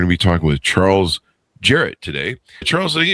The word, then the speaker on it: Jarrett: And we're going to be talking with Charles Jarrett today. Charles, did I get your last name correctly there? I didn't understand your question, sir. Jarrett, do I have Is that the correct pronunciation of your last name?